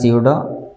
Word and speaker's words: pseudo: pseudo it's pronounced as pseudo there is no pronunciation for p and it comes with